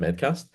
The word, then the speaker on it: Medcast: It's like Med C at and then ST. Okay. It looks a bit strange, but it's kind of just called I think it's pronounced Medcast.